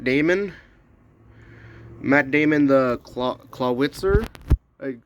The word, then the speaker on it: Clawitzer: Matt Damon the claw clawitzer. I like just yesterday I found that it's pronounced Claw Witzer.